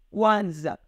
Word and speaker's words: Kwanzaa: E nós vimos que Kwanzaa, nós pronunciamos Kwanzaa não com a letra U, mas com W.